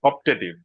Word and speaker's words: optative: It is pronounced as optative.